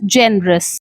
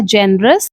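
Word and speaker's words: generous: जी ई एन ई से निकल कर आया है Jain. R ओ यू एस से निकल कर आया है रस। तो इस तरह से इसकी करेक्ट प्रोनंसिएशन हो जाती है जेनरस।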